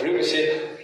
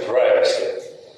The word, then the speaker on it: privacy: И вторая вещь, как перевести на русский язык английское слово, которое англичане произносят как «privacy», а американцы «privacy».